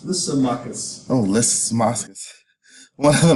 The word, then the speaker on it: Lysimachus: After his death in 323 BCE, the city fell under the control of, how you say it, Licinius? Lysimachus.